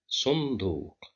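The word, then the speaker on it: صندوق: Here the letter nun is controlled by sukun. We have no vowel here. The previous letter is sad, controlled by dhamma, so that's why we pronounce it as sunduq.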